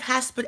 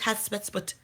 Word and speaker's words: Hatshepsut: I have Hasput Economics, right? My economics page, or Hasput for my Kanye, that's not how you say it. I know it's Hatsput, okay, but I'm not Egyptian.